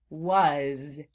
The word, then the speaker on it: was: Sometimes in words that sound like floss words, they end in what sounds like a Z sound, but it's actually being spelled with an S.